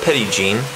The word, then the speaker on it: Petit Jean: mountain i found out it's locally pronounced petty gene as far as i'm